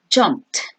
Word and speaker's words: jumped: and past participle jumped you must pronounce evie correctly here it sounds like a letter t so again jumped and the past participle